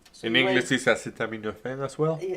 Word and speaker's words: acetaminophen: He couldn't pronounce what? Tylenol. No. Acetimophen in English is acetaminophen as well.